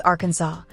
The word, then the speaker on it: Arkansas: For starters, it's legally required to pronounce the state's name as Arkansas, a rule actually enshrined in an 1881 state resolution to preserve its historical French pronunciation.